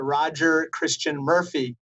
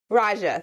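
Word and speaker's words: Raja Krishnamoorthi: it close it's funny i often get pronounced roger christian murphy much like administrator murphy's name so call me roger raja thank you so much congressman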